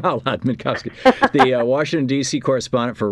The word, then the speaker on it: Minkovski: We're talking with Alona Minovski. Am I pronouncing that right, Alona? I've never Manovski, thank you. I've never said your last name out loud. Minkovski, the Washington DC correspondent for Russia for RT